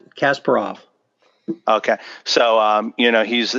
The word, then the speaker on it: Kasparov: Gary how do you how do you say his last name Kasparov or Kasparov that's Kasparov okay so you know